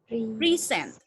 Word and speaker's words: present: The first, karena dia di stressnya karena yang pertama dia di stressnya di pre, jadi bacanya adalah present. I'm sorry. Present. I'm sorry. Present. Pre and sent. Sent-nya adalah normal.